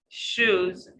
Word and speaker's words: shoes: And this word, if you make your lips or your sound position wrongly, the sound will be produced wrongly as well. So blue shoes, shoes. So you make your circle, you make your lips rounded, rounded, and it's a circle. Blue shoes, shoes. New moon.